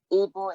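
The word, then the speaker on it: Ibo: Ibu is spelled I-B-O and sometimes I-D-B-O.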